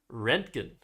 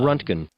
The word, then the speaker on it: roentgen: I think the pronunciation is rentgen. Let's see. Let's hear it. rentgen, but there are other potential pronunciations on this page. Uh runtgen runtgen also possible and rentgen apparently.